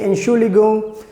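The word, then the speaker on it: Entschuldigung: to stop somebody so we say excuse me and surely go so the word is also you can see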